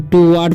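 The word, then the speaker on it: toward: द पिग and carried, ठीक है, हिम ऑफ टू वार्ड, ठीक है, इसे पढ़ेंगे टू वार्ड नहीं, टू वार्ड पढ़ेंगे, ठीक है।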